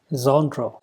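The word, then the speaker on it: genre: फने phonetic transcription क्या होगा this is called जनरो जन र जनर सो अब ज की जो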